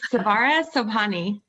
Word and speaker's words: Sobhani: Savari Sabahani. Did I do that right? You're like, "No." It's Savara Sobhani.